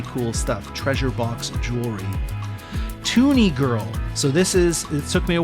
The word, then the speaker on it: TUNIG1RL: Toonie Girl. So it took me a while to pronounce, but it's spelled TUNIG1RL, and I think that's Toonie Girl.